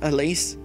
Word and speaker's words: Alayss: can see cheer up Alise which is how we pronounce your name I found that out